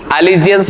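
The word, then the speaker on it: allegiance: तो ALLE, ये हो गया एली, GIANCE, एलिजियंस मतलब हो जाएगा निष्ठा। इसको पढ़ने का तरीका मैंने आपको बताया कि एले अलग पढ़ लो और जीएंस अलग पढ़ लो।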